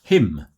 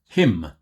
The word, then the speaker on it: hymn: So the first word is pronounced hymn, just the same as H-I-M, hymn.